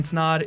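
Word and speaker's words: Snodd: everybody my name is snod it rhymes with odd and you're listening to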